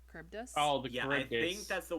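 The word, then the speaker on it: Charybdis: Um, apparently to pronounce that creature's name, it's Caribbdus. Caribbdus.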